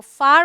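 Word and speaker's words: far: इसे आर बोलते हैं ब्रिटिश इंग्लिश में इसे आ बोलते हैं र वहां पर साइलेंट होता है एफ ए आर को फार बोलेंगे तो ऐसे वर्ड्स में आप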